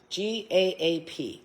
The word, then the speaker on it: Gaap: G-A-A-P.